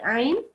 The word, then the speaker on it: ayn: You can see that sometimes people pronounce this like a alif. I think you might have done it just now. So this is ayn.